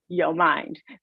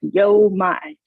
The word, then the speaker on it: YoMind: Sharon, I just loved how you said Yo Mind, because the students, the minute they hear that, that's exactly how they say it. There's several interpretations, but it's like Yo Mind.